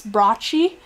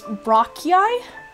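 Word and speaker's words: brachii: very different ways too I've seen people pronounce um for example triceps brochi as in triceps rocki so I don't think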